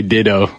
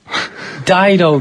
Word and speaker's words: Dido: I was going to say Dido, I was going to say Ditto. Dido, dude.